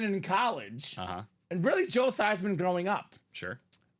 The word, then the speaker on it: Theismann: His name is Joe Theismann. But Notre Dame decided, let's make a campaign for the Heisman. Let's change the pronunciation of your name to Joe Theismann. Theismann for the Heisman. He was a finalist. He did not win, but the name stuck.